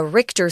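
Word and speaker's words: Richter: can say with numbers it's called the uh RoR scale a scientist whose last name was RoR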